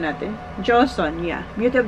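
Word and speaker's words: Joseon: sing beauty of joson Ayan tama ba ang pronunciation natin joson Yeah beauty of joson so gustong-gusto ko to naubos ko na yung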